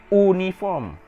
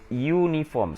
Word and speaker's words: uniform: Okay, you don't pronounce it uniform. You pronounce it uniform. So uniform, the sound is the consonant sound.